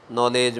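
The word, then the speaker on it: knowledge: नॉलेज ओं है और नॉलेज में ना तो के का उच्चारण है ना डब्लू है नाड़ी का विचार है तो नॉलेज में हम देखें तो के बीच साइलेंट डब्ल्यूबी साइलेंट और डीएवी साइलें देवनागरी लिपि में लेखन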